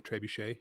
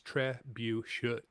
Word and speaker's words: trebuchet: The actual proper pronunciation I see is Trebuchet. should So you're hitting that last T apparently. Trebuchet?